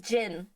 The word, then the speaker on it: Jin: the drink the drink oh like Jin as in Jin and tonic yes as in as in the drink Jin well that is the same as his name Jin the drink is spelled